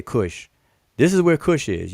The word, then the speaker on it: Kush: big red um sphere over kosh as this as it's properly pronounced conventionally i should say pronounced uh we say kush this is where kush